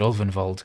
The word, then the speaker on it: Ulvenwald: Many fear the Ulvenwald, but these woods bear a peculiar beauty. At least I said Ulvenwald correctly.